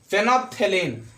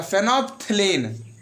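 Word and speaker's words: phenolphthalein: फेनोप्थेलीन, यहाँ पे बीच में एल है, साइलेंट रहेगा, फेनोप्थेलीन, फेनोप्थेलीन।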